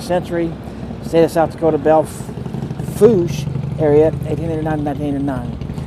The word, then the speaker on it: Belle Fourche: I'm in the town of Belle Fourche, actually Belfooch is how you pronounce it, but I always say that Fourche.